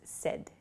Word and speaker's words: said: at the party okay please be careful of your pronunciation with the word said a lot of people I've heard use say s is not correct so please use said it sounds like s e d the pronunciation uh but it's said s a ID is the spelling say becomes said she